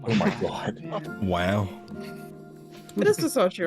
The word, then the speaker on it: Versace: Is that Versace? Cannot believe you It's- didn't ask for it's actually- Fortnite in here. It's actually Versace. Oh my god. Oh, is that how you pronounce it?